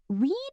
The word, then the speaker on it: read: Read is tricky. Present and past are spelled the same, but past sounds like red. I read a book last night. Good point. Read in past sounds like the color red.